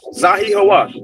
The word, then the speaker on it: Zahi Hawass: Awaz. Yeah, Awaz. How you say it? Zahi Hawass.